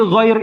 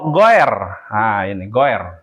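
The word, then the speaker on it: غير: Ai atau kemudian ghoir Jadi ghair itu dibaca bukan goer bukan goer tapioi dibacanya oi ya Jadi dibacanya ghoiril bukan goiril itu beda tuh Coba nanti ya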